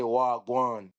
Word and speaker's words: wagwan: And it's spelled WAH, and then the other word is GWAAN. Wagwan. That means what's going on.